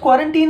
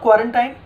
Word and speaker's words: quarantine: सो इट इज़ क्वारंटीन नॉट क्वारंटाइन। Make sure your pronunciation.